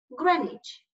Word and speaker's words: Greenwich: to make sure that I'm using the correct pronunciation of this place is it Greenwich yes it is carnage thank you and what